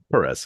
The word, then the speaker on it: Perez: Did I pronounce correctly? Perez, yeah.